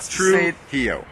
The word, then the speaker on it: Trujillo: you can do it allele yeah you got Trujillo you get it roll those ours pero he